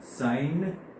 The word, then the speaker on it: sine: So it is pronounced the same, sine theta.